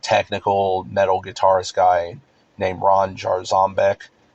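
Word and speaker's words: Ron Jarzombek: So, there's this like technical metal guitarist guy named Ron Jar Zombbeck, and that's how he pronounces it. Like emphasis on the Zom part of it, I guess, like zombie or whatever.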